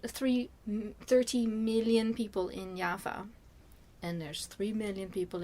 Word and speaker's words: Java: so ja yaa in is pronounced in Dutch yafa is one of the